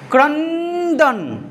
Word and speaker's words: ক্রন্দন: ক্রন্দন নটা পুরোপুরি উচ্চারণ হচ্ছে ক্রণদন হচ্ছে ক্রন্দন মাঝখানে একটু তো তুমি অবসর দাও আহা সেই রবীন্দ্রনাথের কথা